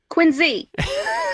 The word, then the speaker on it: Quincy: Quincy.